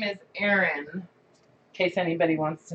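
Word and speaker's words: Ahren: Well, my middle name is Erin, in case anybody wants to know. And it's spelled really weird.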